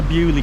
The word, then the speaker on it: Beaulieu: The reason I said Beauloo is because when you look at how it's spelled, it's l-i-e-u as in a day in lieu. But I've just asked someone in the town and it's called Beaulieu so welcome to Beaulieu folks!